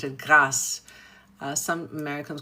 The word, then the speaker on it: Grasse: So, there was a beautiful area outside of Paris called Grasse, g r a s s e.